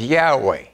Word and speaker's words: Yahweh: a title we use but his name is Yahweh y a h w e h and and